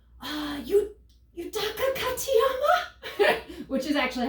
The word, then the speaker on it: Yutaka Katayama: So I'm sweating, I'm like heat stroking out, and I'm all like, Yutaka Katayama, which is actually how you say it. Yutaka Katayama, aka Mr.